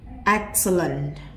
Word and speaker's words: excellent: Tất cả những chữ E này của A, B, C nó phiên âm thành âm I. Còn E này vẫn là âm E. Excellent. Excellent. Excellent. Và E đây là âm ơ ngắn.